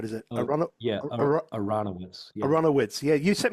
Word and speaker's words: Aronowitz: And Al, I want to get the pronunciation on the surname right. Is it Oh, yeah, Aronowitz.